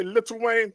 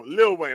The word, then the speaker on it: Lil Wayne: no did I say did I say little Wayne No Lil Wayne I'm sorry Wayne you putting way too many syllables in there Lil Wayne probably roll